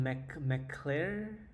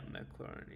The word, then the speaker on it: McLaren: I think McClure. I don't even know how you pronounce their name. I think one of the best player in it's called McClare. McClare. It's like a French name. So yeah, that would be mine. Yeah, McLaren. Yeah, that's right.